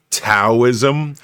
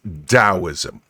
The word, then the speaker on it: Taoism: in it and a lot of people uh pronounce it as taoism but it's taoism okay so uh taoism and lao zoo's uh